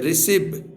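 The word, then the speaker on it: receive: जैसे देखिए इसमें है रिसीव, RECIVE, रिसीव, यानी सी के बाद इसमें देखेंगे तो आई आया है, इसलिए इसको स का उच्चारण है रिसीव।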